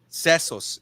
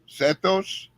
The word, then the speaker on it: sesos: Sesos is brain. How do you say that? Sesos. Setos? Seso. Sesos. Yeah. I can't. With an S?